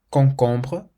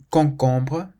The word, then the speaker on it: concombre: C plus A, O, or U is pronounced like a K. If you see the letter C in front of an A, an O, or a U, then you pronounce it k.